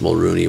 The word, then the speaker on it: Mulroney: it really bothers me that his name is pronounced Mulroney when it's spelled Mulroney.